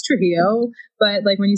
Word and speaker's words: Trujillo: So I'm like, it's Trujillo, but when you say it, it's Trujillo. But I only, when I'm really trying to put my foot down and be like, I'm actually Mexican, say it like that.